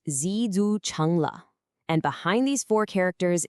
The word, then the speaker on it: 知足常乐: The idiom is pronounced zu chungla.